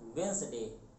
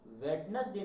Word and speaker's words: Wednesday: तो यहाँ पर ध्यान रखिएगा, लिखते तो हैं वेडनेसडे लेकिन जब पढ़ते हैं तो डी साइलेंट होता है, इसको बोलते हैं वेंसडे। तो कृपया कभी भी वेडनेसडे ना बोलिएगा, आप बोलेंगे वेंसडे।